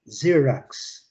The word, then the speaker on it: Xerox: Here, Xerox. Xerox. Xerox. Xerox. Luciana, the first syllable is stress.